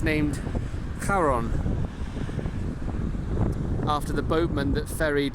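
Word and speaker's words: Charon: have a moon and if you chose to mispronounce it you could say the Moon is called Sharon here we are now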